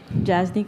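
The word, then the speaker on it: Jasnique: just a little louder we missed your name jasnik grants analyst Alan could you spell that j-a-s -n-i-q-u-e okay and good morning Monique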